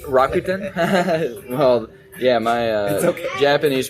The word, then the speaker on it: Rakuten: Stock Exchange Morgan Stanley Rutan you're not from Japan it's rakuen Rakuten well yeah my uh